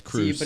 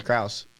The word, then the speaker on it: Kruse: iose K isn't it it's k r u s e that's that's Cruz see but it's pronounced Cruz see that's the first time I've ever heard someone pronounced it like that usually make a long e I thought it was